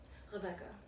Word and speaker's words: Rebecca: Rebecca. Thank you. Yeah. Do you ever refer to yourself in that way in your day-to-day life? Or introduce yourself in that way? In the German pronunciation?